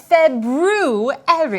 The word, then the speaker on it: February: month we are currently in oh the proper pronunciation for the second month of the year is February I know that because of see not that